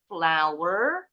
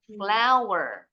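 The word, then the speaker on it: flour: tadi tuh for example rice flower tepung terigu bacanya seperti bahasa Inggrisnya bunga Jadi bukan flow ya bacanya flower pasir sugar What is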